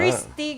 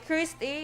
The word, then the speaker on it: Christy: Christy, gali iya to, di ngalan. So, dapat pag-pronounce na gali Christy, hindi gali Christ.